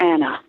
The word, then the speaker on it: Anna: Do you pronounce it Anna or Anna? I wondered. I call her Anna.